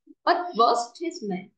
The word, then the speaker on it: advertisement: Là ông này mình sẽ đọc là ơ. Advertisement.